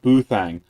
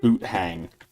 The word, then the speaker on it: Boothang: Oh, Boothang. Sorry. I read it as Boot Hang.